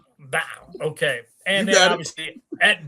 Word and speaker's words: Blau: Can I say Blau? Is that how you guys do it? I love it. You got to say it. No, you got to say it like Avery Johnson is saying it, bro.